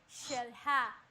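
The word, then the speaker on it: Xel-Há: when the word starts with an X, especially in the Caribbean, you travel down there, you're going to see, for example, it says shelha or shkaret. So they pronounce the X as sh.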